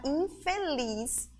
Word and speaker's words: infeliz: som do Z Porém quando nós pronunciamos a palavra infeliz usei passa a ser o som da letrinha S certo crianças bom então